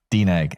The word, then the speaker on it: DNEG: you say the name of the company deeg deeg is it an acronym uh it used to